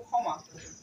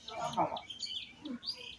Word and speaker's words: ক্ষমা: করেছে ঠিক আছে তো এই শব্দটা সরাসরি যখন আমরা বাংলায় বলবো তখন বলবো ক্ষমা কিন্তু সংস্কৃত যেহেতু আমাদের এখানে যুক্তফা কি রয়েছে প্রথমে রয়েছে তাই সংস্কৃতের নিয়ম অনুসারে আমরা বলবো ক্ষমা আবার যুক্তফা যদি কি